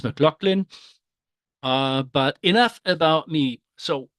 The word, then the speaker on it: McLaughlin: This is how my name is supposed to be pronounced, McLaughlin.